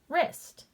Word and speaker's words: wrist: when we see wr that the w is going to be silent and the r is going to make the sound so let's use that rule sounding out this word the w is silent and now i sound it out er est wrist okay let's dive into